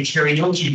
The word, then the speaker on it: karaoke: Number three, where does the friend suggest that they have a karaoke party? I know it's spelled K-A-R-A, but in English it's karaoke.